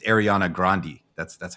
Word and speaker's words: Grande: the pictures of him and Ariana it's not grande apparently because they were look close with the family like he was like producing her when she was 15 it's Ariana grandi that's that's how you pronounce it just so